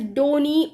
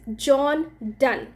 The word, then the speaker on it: John Donne: So the spelling goes like Donne, but you cannot pronounce it as Donny or Don. The correct pronunciation to this is John Donne.